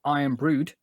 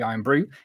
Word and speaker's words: Iron Brood: So in the dock at the moment is the 92-foot long Iron Brood, but the D is silent as always. So it's the Iron Brew is currently docked here